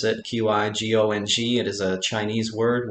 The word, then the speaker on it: qigong: practice right a lot of people can't even pronounce it q i g o ng it is a chinese word word from the